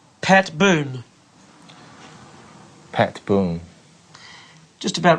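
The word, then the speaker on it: Boone: Boon just about right boon with an n b n e Boon Boon Boon Boon Boon yeah Boon yeah not D not boond Boon Bo Boon that's right Pat Boon Pat Boon while CJ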